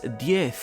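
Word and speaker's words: Diez: His family name is pronounced as Die, like the Spanish word for tan, but is written with the symbol X, the number for tan in Latin, or D.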